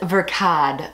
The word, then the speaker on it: Verkade: Verkade, like Versace, Verkade.